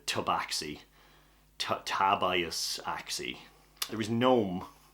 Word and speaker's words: Tabaxi: Tabias Axi, the Tabaxi.